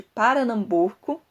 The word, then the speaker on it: Paranambuco: descrição do Recife de Paranambuco. Eu não falei errado, é Paranambuco, que é Pernambuco, mas é assim que se pronuncia, assim como se está na versão que eu encontrei da obra.